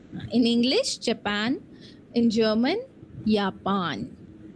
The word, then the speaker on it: Japan: Although J is called as yacht, but whenever letter J is present in any of the German words, it gives the sound of Y or Y.